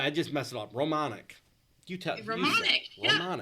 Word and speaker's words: Romaniak: is now, it was originally Niuk, and the UK turned into Nick. So it used to be Romaniak, like gross, ew, and it turned into Romanick.